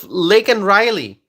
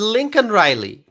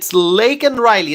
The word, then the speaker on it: Laken Riley: And so the case of Laken Riley, the death of Laken Riley. And so when Biden mentioned her name, Biden said Lincoln Riley. I mean, how can you get that name wrong?